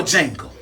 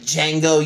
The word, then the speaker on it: Django: Or, like, Django, you don't say D because the D in Django is silent.